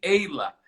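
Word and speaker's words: Aela: Eila Maria. Maria. Eila é um nome nórdico. Nórdico? Uau. Isso, escreve-se A-E-L-A, mas pronuncia-se Eila.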